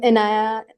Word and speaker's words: Inaya: Inaya, is that how you say it? Yeah, hi, I'm Inaya.